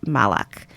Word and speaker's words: Malach: this play directed by Evan Malach and Rafe Malach. I don't even know if I'm pronouncing this right, so let me just give